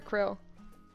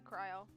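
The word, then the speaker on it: Krile: you say her name cryle or Krill most NPCs say cryle so I wish it was like Krill okay they just gave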